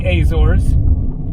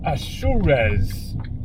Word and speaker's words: Azores: And so for anyone who thinks that I am mispronouncing the Azors, you are correct. I am. It is not the Azors. It is not the Azors.